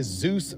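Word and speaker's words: Dzus: This right here is a Zeus fastener. It is spelled DZ Us.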